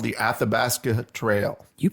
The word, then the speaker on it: Athabasca: That's from a poem he wrote called The Athabasca Trail. You pronounced that very well.